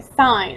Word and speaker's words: sine: hypotenuse is called the sign which is pronounced like the word sign so in a right